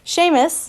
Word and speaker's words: Seamus: I thought I said his name wrong, and I was like, Seamus.